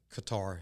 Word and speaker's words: Qatar: he calls the giant sandbox which he call cutter or Qatar however you want to pronounce it and he was serving with the